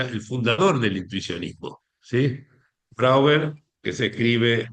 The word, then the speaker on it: Brouwer: Brouwer, que se escribe B larga R O U W E R, ¿sí? No Brouwer como suena y como ha sido transcrito en algunos cursos de mi bueno, este publicado.